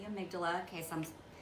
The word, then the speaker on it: amygdala: Some people pronounce it amygdala. I think it's more commonly called the amygdala.